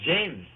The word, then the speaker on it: Jaymes: Is it James? It's James.